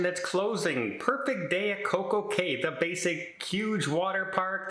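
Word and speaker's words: CocoCay: it but let's face it perfect day at CoCo K Rhymes it just kind of makes sense to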